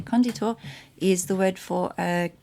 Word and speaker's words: conditor: So conditor, or conditor, I should say, conditor is the word for a builder or founder or creator. And the emphasis should be on the first syllable, conditor.